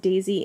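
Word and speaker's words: DESY: The Deutsche Elektron Synchrotron, pronounced Daisy in Hamburg, is part of, I think, where they did dating of these samples.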